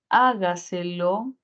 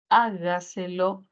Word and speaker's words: hágaselo: Luego tenemos la palabra hágaselo, hágaselo, si realizamos silabeo sería hágaselo. Mayor fuerza de voz al inicio, y tendríamos una palabra sobre esdrújula.